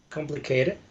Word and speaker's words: complicated: Complicated. Complicated. There you go. It sounded like complicate before, but it's a very complicated topic to talk about.